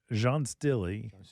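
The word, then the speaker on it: Jean's Dilly: Jean Stilly is a columnar variety of Alberta spruce. That's Jean Stilly. Like 2 foot, It looks like, when they spell it, it's Jeans Dilly.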